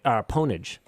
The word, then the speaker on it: pwnage: that's that's the that's the law is however they called it on pure ponich in my opinion but a lot of people probably more people pronounce it pwnage well that's I mean they